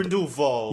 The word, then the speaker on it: Grindelwald: Grindelwald. Yeah, that was. He really stressed it too, like he was correcting everybody, and there was no context for it. But Grindelwald pitches it like, "Hey guys, we have to stop the Holocaust."